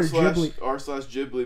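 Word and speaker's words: Ghibli: to think it's pronounced jibli is he correct the actual word uh and they typed it out ji is meant to have a hard G sound but Miyazaki pronounces with the soft G Miaki is right miak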